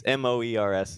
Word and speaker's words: Moers: it's Moers is One O. correct. Yeah, 1-0. which isn't a very common spelling, but anyways, it rhymes with s'mores.